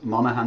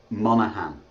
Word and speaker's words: Monaghan: Monaghan is good. Well, how do you actually pronounce it? Monaghan. Okay, Monaghan. The G Okay. silent.